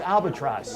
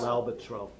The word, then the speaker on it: L'Albatros: No, wait, how do you pronounce it? I always thought it was albatross. L'Albatros. L'Albatros. I can still come eat there if I call it Yeah, albatross.